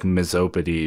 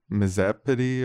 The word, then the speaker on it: Misopedy: Yeah, I think it might be pronounced with a softer O than that, like than miso. It's like Misopedy or I think Misopedy.